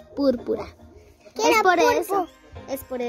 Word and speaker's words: púrpura: Búrbura. Búrbura. Jalina lo dice bien. Su color favorito es búrbura. Y no se dice así, es púrpura.